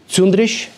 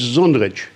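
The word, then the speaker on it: Čundrić: That would be Cundrić. Well, if you want to do it in local Croatian, you have to do it with a C and then the Hacek at the end. So it's Zundrić.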